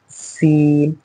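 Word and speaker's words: سين: तो हमने इसे पढ़ना है सीन, और इसे क्या पढ़ना है शीन।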